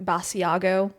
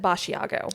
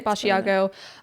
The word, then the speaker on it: Basiago: I have heard this his Andrew Bashiago pronounced a couple ways. Um I've heard Basiago. Aiago with a B over it. He says it Bashiago. Okay. So I'm going to say Bashiago.